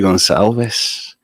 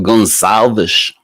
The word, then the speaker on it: Gonzalez: I'm your host Gonzalez or Gonzalez which is how you actually pronounce my surname originally in its original Portuguese welcome everybody depending where